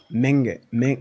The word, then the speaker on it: Menge: name is menge mengen okay so this is like a very soft g sound it's almost unhearable there ming and then the last e is pronounced like an a uh no it's just